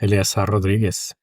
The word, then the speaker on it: Eleazar Rodriguez: For starters, am I pronouncing it correctly? Is it Eleazar Rodriguez? Yes, Eleazar Rodriguez.